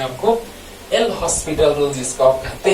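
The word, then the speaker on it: L'Hôpital: एल हॉस्पिटल rule जिसको कहते हैं, actual pronunciation is एल हॉस्पिटल rule.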